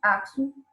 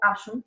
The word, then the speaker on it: Aksum: Para constituir suas grandes obeliscos, os trabalhadores de Aksum, ou Axum, né?